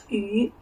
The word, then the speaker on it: 雨: And then we say it say it ü ü as a whole sound. As a whole sound. Because ü is a glottal sound.